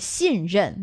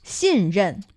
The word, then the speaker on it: 信任: And 信任, that's for trust.